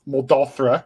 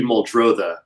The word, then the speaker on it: Muldrotha: recent project is called moldova right that's that's i'm saying it correctly uh it's actually moldrotha okay yeah well you